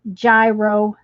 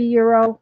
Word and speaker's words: gyro: tell you julie that most people a lot of people pronounce it gyro it's it's supposed to be euro but if somebody said